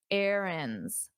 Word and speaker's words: errands: And notice my pronunciation. Erands. Erands. Very different from the spelling.